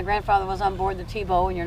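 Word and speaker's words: Thebaud: My grandfather was on board the Tebow, and you're not pronouncing it right. It's not Tebow, it's Tybo.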